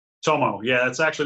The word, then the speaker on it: Tomo: in Orlando his first name is am I pronouncing right Tomo right Tomo yeah that's actually not even my legal name